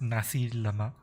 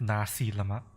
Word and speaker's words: nasi lemak: If it's spelled nasi lemak, It's pronounced like that, nasi lemak. Not nasi lemak or anything like that. It's just nasi lemak.